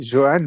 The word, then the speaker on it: Johan: Rieder sont sortis respectivement pour Djibril Sow, Johan Manzambi, on va le prononcer juste, c'est Johan, hein, c'est pas Johan, c'est Johan, comme Djourou et puis Ruben Vargas